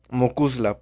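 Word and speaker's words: mo chuisle: chingados es mocuzzla pues ahí va mocus la pronunciado de esta manera y escrito de la siguiente manera mokuisle es una palabra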